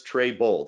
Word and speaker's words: Trebold: Trebold, yes, Trebold, that is how you pronounce it.